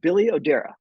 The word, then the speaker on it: Billy Odera: today I have the pleasure of talking with Billy odera Chief data officer at Jubilee Insurance did I pronounce that correctly Billy yes yes Ben thank